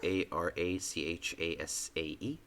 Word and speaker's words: arachas: It's Arachase.